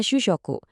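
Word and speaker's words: 主食: Shushoku. Bacanya shusyoku.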